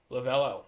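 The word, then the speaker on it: Lovullo: NL goes to Tori lavulo lavello that's how you say it young and Shane McClanahan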